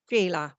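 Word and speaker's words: Shelagh: name of Shea and I don't want to spell it the conventional way I want to to say s h e l a g h Gila that way so you must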